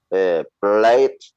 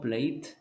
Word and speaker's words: played: Played. It's not played. It's played. Played.